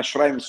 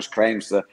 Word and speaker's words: Schrems: Maximilian Schrems, ormai, come dire, chi si occupa di privacy, o Schrems, seconda le pronunce preferite, chi si occupa di